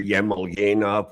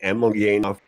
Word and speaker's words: Emelyanov: Uh so um I hear Ivan Ivanov when it's Evgenov, hear Yemelyanov when it's actually Emelyanov.